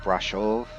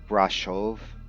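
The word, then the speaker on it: Brașov: in like hollywood lettering brashov look that up uh that that shh pronunciation is not sh it's actually a special character in romanian an s with a comma under it but a lot of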